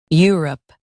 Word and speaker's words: Europe: Stress U and keep rup smooth.